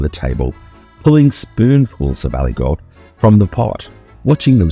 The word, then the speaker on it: Aligot: Aligot. Aligot. Aligot. So, what is Aligot? It's spelled A L I G O T.